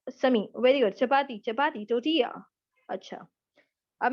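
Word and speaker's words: tortilla: ये टोटीला नहीं होता, पहली बात तो प्रोनाउंसिएशन इसकी है टोटिया, एल साइलेंट है इसमें।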